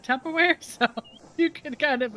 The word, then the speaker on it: Tupperware: And then, of course, her pronunciation was kind of amazing, but you know, the woman said Tucker Wear instead of Tupperware.